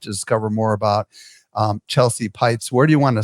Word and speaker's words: Peitz: Why don't you spell it out for the audio listeners, just so they Yes, it's Chelsea, Chelsea, and my last name is Peitz.